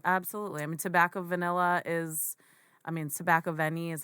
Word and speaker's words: Tobacco Vanille: I mean, Tobacco Vanille Tobacco Vanille is how he pronounces it, but men can wear it, women can wear it.